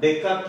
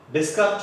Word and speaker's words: Descartes: So, yes is silent, suppose yes, so the yes is silent answer, Descartes rule. So, the mathematical word, Descartes rule, that is the normal word. So, yes, then yes is silent, Descartes rule.